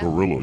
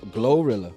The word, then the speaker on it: Glorilla: Gorilla, you don't know what she's saying half the time. What she's saying. Who? Gorilla? Glorilla.